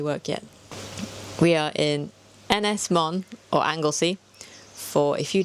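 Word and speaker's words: Ynys Môn: Ynys-Môn.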